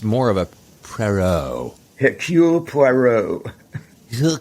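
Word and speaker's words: Poirot: for I can never say his name right Perot it's more of a procure puero your Q Peru you can't say that without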